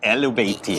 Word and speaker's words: Illumishade: I hope I'm pronouncing it correctly. Elvati. Illumishade.